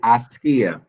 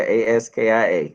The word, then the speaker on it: Askia: to pronounce his first name. Mr. It is Askia. Askia, A-S-K-I-A.